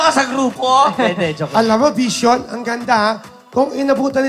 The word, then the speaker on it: VXON: Paano ba nyo naisip yung Vision? Yes po, so marami nga po nagtataka kung bakit ganun yung spelling VXON. So akala nila, VXON ang pang-pronounce nun.